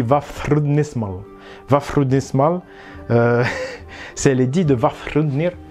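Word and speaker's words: Vafþrúðnismál: Donc le TH, c'est à l'anglaise. Donc ça se dit Vafrudnismal.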